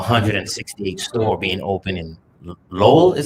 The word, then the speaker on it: Lowell: have um our 168th store being open in lowell is how you say it in low i